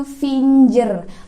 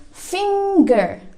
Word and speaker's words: finger: Kebanyakan orang Indonesia masih bacanya itu finger, pakai huruf J, finger, ya kan? But the real one, the correct one, yang benar yaitu finger. Repeat after me, finger. Jadi nggak ada suara J di situ, tapi adanya suara G. It's not finger, but it's finger.